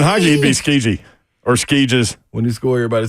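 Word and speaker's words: Skjei: I mentioned Brady Shea, and DHB on YouTube said it's pronounced Skeege, Mayor. Come on, Mayor. It's Skeege now.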